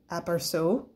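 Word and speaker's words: aperçu: time um this is from hubigon it's called aparso which is spelled a-p-e-r-c-u which also means a passing glance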